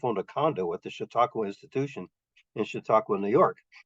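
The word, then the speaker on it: Chautauqua: that the last letter here both of them pronounced shiaka apparently this one has real spoof quality the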